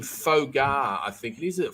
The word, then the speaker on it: pho: Just before we go, Wencee, you have as your name Fogar, I think it is. It Fogar, or how do you pronounce that?